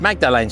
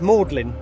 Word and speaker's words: Magdalene: That's Magdalene Street. Yeah, it's not. It's Magdalene. Oh, is it really? So Yeah. locals. That's Magdalene. Magdalene. Yeah. M-A. Magdalene College. But that's like St Mary Magdalene. Yeah, and that's Spelled Magdalene the same.